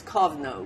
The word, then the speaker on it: Kovna: But it was, when I was younger, it was Kovna, which is K-O-V-N-A.